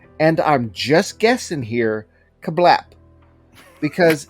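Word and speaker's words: CABLP: because the press release says you're supposed to pronounce it kablip okay there is there is no there's nothing to suggest that it's pronounced kablip because there's there's not enough vowels it's just kabloop yup which stands for get ready this is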